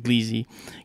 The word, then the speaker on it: Gliese: Gleese. Gleese, right? Gleese. Gliese. Yeah.